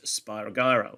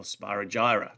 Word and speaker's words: Spirogyra: a protist that carries out binary fission is spirogyra or spirogyra depending on how you prefer to pronounce it okay you can see the green